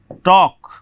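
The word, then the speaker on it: talk: उसी प्रकार से टॉक, इसको लेकर के भी आपको बताते हैं। टॉक, टॉक्ड, टॉक्ड, बात करना जो है। तो इसमें देखिए जब भी के से पहले एल आएगा तो एल साइलेंट रहेगा।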